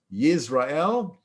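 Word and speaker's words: ישראל: It doesn't come out in English all that well, because in Hebrew, the word Israel is pronounced Yisrael, and Jezreel in Hebrew is pronounced Yisrael.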